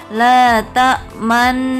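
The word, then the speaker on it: تأمنا: Ketika kita membaca lafaz la ta'manna, posisi bibir kita adalah meringis, mencucu, meringis. Saya ulangi lagi, cara bacanya adalah la ta'manna.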